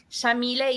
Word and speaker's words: Yamile: So Yamile is an Arabic name pronounced with an Argentine accent. We say the Y like an SH.